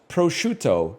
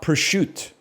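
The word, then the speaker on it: prosciutto: Pruto is pronounced prochto, not pushut.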